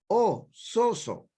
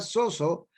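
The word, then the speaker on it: σώζω: palabra salvación, que es una palabra griega que se escribe con S-O-Z-O, soso. Y esa palabra soso no solamente está hablando de salvación, de perdón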